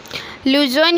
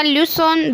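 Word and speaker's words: Luzon: व्याख्या: लुजोन या लुसोन दोनों उच्चारण सही है।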